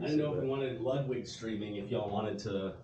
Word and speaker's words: Ludwig: so funny I mean technically the German pronunciations Ludwig but it's about as much Ludwig as it should be Ludwig right so for people